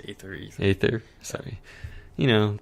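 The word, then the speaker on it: Aether: called the ather Foundation possibly ether or ather ather sure it's ather ather sorry you know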